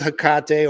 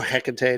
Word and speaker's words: Hecate: the left-hand path so working with hakate or Hecate depending how you pronounce it uh big difference huge